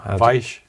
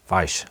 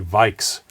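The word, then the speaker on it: Weich: Vike. Vike. Thank you. Spiracore Vike. I will try and correct that in future. But most people say, in the States, they say Vikes.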